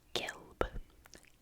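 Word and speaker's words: gelb: yellow and in German yellow is gilb gilb GB GB kind of like gold that's how I try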